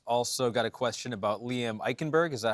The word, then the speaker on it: Liam Eichenberg: Also got a question about Liam Eichenberg.